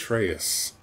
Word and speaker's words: Atreus: You were just gonna mispronounce that boy's name forever. No, that's his name! It's Atreus.